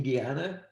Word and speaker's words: Guyana: later, it remains part of the existence in Guyana.